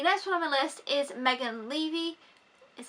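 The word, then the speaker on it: Megan Leavey: I felt the National on my list is Megan levy is how it's pronounced like I'm levy from 2017 or it's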